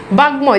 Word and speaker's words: বাগ্ময়: বাগ্ময়, দেখেন এই যে উয়ের সাথে যুক্ত হয়েছে এই জন্য দেখেন ময়ের উচ্চারণ আছে।